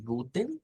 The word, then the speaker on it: guten: pero cuando veamos la Esa es la transliteración pero cuando veamos el ipa vamos a ver que esa e no existe lo que existe es una t después de una n como el sonido ten